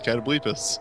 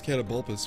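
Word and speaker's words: Catoblepas: It's like, no, that's just how you pronounce Catablepus. Well, it's like I thought it was Catabulpus or something, but...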